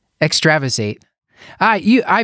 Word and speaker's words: extravasated: Vaes eight how do you say it stuart extravasated extravasated ah ooh I mispronounce words all the time so thank you